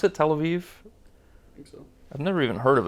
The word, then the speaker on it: Tel Aviv: in love with that 100% next we have Tel Aviv is how you pronounce it Tel Aviv I've never even heard of it I have